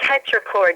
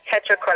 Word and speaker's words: tetrachord: Is there something as a treacherous, how do you say it? Tetrachord? A tetrachord, yes, tetrachord.